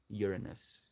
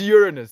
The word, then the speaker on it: Uranus: Like, I'm kind of like leaning into this way of pronouncing it, and I could have kind of ruined the whole joke with the way that I actually say the word as Uranus. It's Uranus. That's how I said it in China as well.